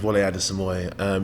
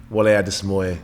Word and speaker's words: Wole Adesemoye: How do you pronounce it? So it's Wole Adesemoye. Full name's Wole Adesemoye.